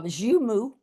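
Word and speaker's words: joumou: Uh zumu zumu soup o u m o zumu zumu soup.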